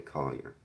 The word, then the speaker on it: Collier: Collier. That's how we pronounce the last name. Collier.